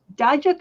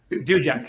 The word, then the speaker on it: Duiker: I'm still pronouncing names. Is it Dijak or Dujak? Dujak.